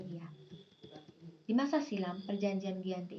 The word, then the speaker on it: Giyanti: Dalam pelafalan Belanda, ia disebut sebagai Ianti, dan secara tertulis ia sebagai Giyanti.